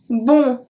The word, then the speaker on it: bons: BONS with a S that we don't pronounce for masculin pluriel.